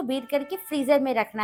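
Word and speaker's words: Marie: ले ली है और मेरे पास यहाँ पे मरी बिस्किट के 3 पैकेट है। एक पैकेट में 12 बिस्किट हैं। अक्सर लोग इसे मैरी बिस्किट भी कहते हैं, लेकिन इसकी सही प्रोनाउंसिएशन मरी है।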